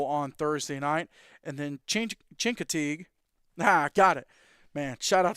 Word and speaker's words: Chincoteague: And then Chincoteague. Got it. Man, shout out to Coach Weidman for helping me with those pronunciations. Chincoteague is at Kinston Forest.